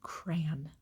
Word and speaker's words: crayon: people say crown um we say crayon it's one syllable like cranberries without the berries it's crayon i need